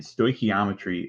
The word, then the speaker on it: stoichiometry: It's pronounced stoichiometry, and stoichiometry is a method used to calculate moles and mass of reactants and products from a balanced equation.